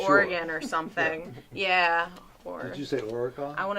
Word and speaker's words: Oregon: filmed elsewhere and like Oregon or something yeah I want to say that I said Oregon good you said it right I did either that